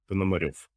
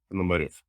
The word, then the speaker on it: Ponomarev: but in Russian the stress goes to the last of the word. So say it one more time, slowly. Ponomarev.